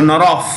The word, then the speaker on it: Norov: When a word in the Slavic Central Asian bhashas like Russian, Uzbek and all these bhashas, when a word ends in V, it's pronounced with an F. So Norov.